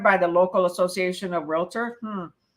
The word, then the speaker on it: Realtor: That's what it usually is, the realtor. And remember that the word realtor is 2 syllables, real and tor. Realtor, not realtor.